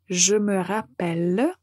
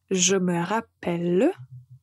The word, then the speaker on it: je me rappelle: troisième personne du pluriel la prononciation est un peu différente nous allons dire je me rappelle et on entend bien la lettre E je me rappelle comme nous avons